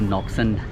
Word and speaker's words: Ngọc Sơn: इसको बोलते हैं नॉक सन टेम्पल।